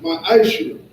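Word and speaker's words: מעשר: Means tenth in Hebrew, and is pronounced ma'ashir.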